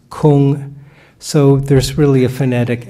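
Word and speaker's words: 空: So if you look on the right side, there's work, pronounced gung, and the word empty, pronounced kung.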